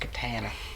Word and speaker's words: katana: I wasn't sure it is it no it's pronounced Catana to tell keikain Settlers of Catan boy I'm